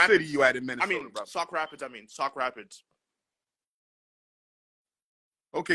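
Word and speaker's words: Sauk Rapids: but you are in South Rapids Minnesota right Sock Rapids with a s Sock Rapids South like north south east west right s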